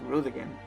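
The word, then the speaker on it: Roegadyn: root again that's right it's pronounced rude again these are the big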